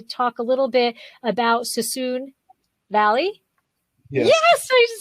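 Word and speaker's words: Suisun Valley: i want to talk a little bit about sassoon valley yes i just said it right makes me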